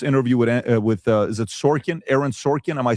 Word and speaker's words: Sorkin: making point after point after point with this interview with with is it Sorkin Aaron Sorkin am I saying it correctly? Andrew Ross Sorkin Ross Sorkin.